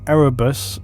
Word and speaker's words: Erebus: This warp disturbance would be summoned by Erebus, yes, I'll say it correctly now, during the